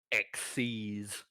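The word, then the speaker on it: Xyz: z is how it's spelled and so like zyzix or something is capital x y z and it's pronounced xc's now the way X sees monsters work they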